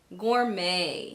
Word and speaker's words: gourmet: So in words like ballet, rapport, gourmet, chalet, and cabaret, the T is silent.